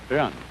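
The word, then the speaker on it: 仁: Although when we Romanize this word in English, we spell it J-E-N. It's pronounced Jung. Sort of like rolling an R, or rather saying R but not rolling it.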